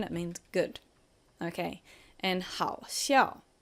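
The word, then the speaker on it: 好笑: Okay, and 好笑. Third tone, fourth tone, 好笑.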